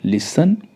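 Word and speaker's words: listen: rule क्या कहता है रूल कहता है यदि किसी शब्द के अंत में टी ई एन 10 टी ई एन दे रखा हो तो टी साइलेंट रहता है जैसे दो एग्जांपल है लिसन एल आई एस टी ई एन टी ई एन है तो यहां पे टी साइलेंट होगा हम सीधा प्रोनाउंस करेंगे लिसन लिसन का अर्थ होता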